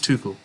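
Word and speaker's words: Souček: too cool i think that's okay thomas is too cool that's how you pronounce it yeah i want thomas to call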